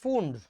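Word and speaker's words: Pfund: হচ্ছে Humphry William Humphry তুমি এটাকে ফুন্ডও বলতে পারো ফান্ডো বলতে পারো তোমার ইচ্ছা বানানটা পি এফ ইউ এনডি পি টা সাইলেন্ট ঠিক আছে সো দ্যাট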